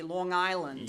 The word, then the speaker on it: Long Island: It's got to be Long Island.